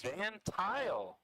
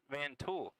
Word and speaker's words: Vantile: It's van tile, not vanul.